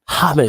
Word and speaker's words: James: got James R James you have to pronounce his name different hamz Jamz you know what I'm